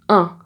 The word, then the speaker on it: un: Alors, ensuite, on a 20 et là, tu as le son 1. Donc, si tu le prononces, tu vas voir que tu sens quelque chose ici parce que le son passe dans le nez. 1.